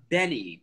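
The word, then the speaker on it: BENEE: Oh, you know, I really like Benny.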